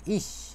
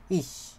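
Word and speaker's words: ich: এটা হচ্ছে এইভাবে করে লেখে এটার উচ্চারণ হয় হচ্ছে ইশ কি বলে ইশ ইশ মানে কি আমি আমি ইশ মানে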